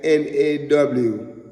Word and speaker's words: nagash: You see, it's spelled Nagash, nagash. But when we kind of put it into the, try to divide out the words, right? It would like it's saying Nawgash, nagash.